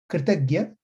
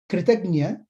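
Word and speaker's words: कृतज्ञ: Kritagya, Kritagna. These are two Sanskrit terms with a very slight one syllable difference. The whole context changes. Kritagnya, Kritagna.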